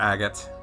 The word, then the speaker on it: Agot: She's making food for Agot. Yes, I'm going to start calling him AGOT now because I know that's the proper way to say it.